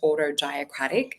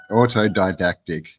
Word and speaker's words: autodidactic: recommend for people to jump on over to autocratic and we'll pop up your I'll pop up am I pronouncing it wrong how do you say yeah autodidactic oh dactic that's right yes means to be